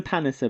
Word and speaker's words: Palliser: of brothers yes and we now know that we're pronouncing their name correctly until we're told we're not on the show they called them the Palliser brothers that's right we're East